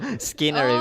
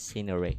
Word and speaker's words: scenery: the second is but most of people um pronounce it scenery because yeah skinner because the the spell of the words is